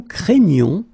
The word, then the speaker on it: craignons: right here and then the sound is craignons. Okay, you get the gn sound.